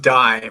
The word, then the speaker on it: Dai: are oh geez well my name is pronounced die for those that are probably looking at that and thinking what is that and uh it's a welsh name means david and uh men well